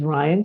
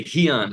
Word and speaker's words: Ryan: Now that I'm here in Rio, it's a lot easier for people to say Ryan, even though they still get it wrong. They say Heon because they don't pronounce R like R.